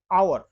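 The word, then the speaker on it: hour: में दिया है कि आवर अब यहां पर पे ये शुरू तो एस से हो रहा है लेकिन इसका जब हम उच्चारण करते हैं तो आ आ से शुरू करते हैं तो हम समझ सकते हैं कि चूंकि आ एक स्वर है तो इसके आगे एन ही लगेगा एन ऑनर ये भी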